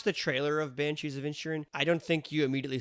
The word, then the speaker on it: Inisherin: I'm going to get in trouble for not pronouncing it correctly, but it's the Banshees of Insherin. Is a D in it? INISHERIN. Yeah, see, the Banshees of Insherin.